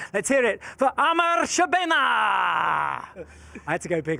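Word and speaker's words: Amr Shabana: Let's hear it for Amar Shabena. I had to go big on it. Amazing. How was I on the pronunciation?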